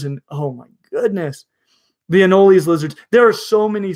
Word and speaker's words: anoles: question and they're kalila the anoles in general probably more properly pronounced in no lease but I'll very rarely